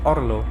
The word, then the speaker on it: Orlov: Orlov. Yep. Is the V pronounced, the W V, or is it silent? It should be V. Orlov. Normally pronounced. Orlov.